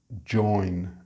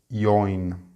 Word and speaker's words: join: as a verb, it is on the second syllable. Project, project. And finally, we have join. It's not join.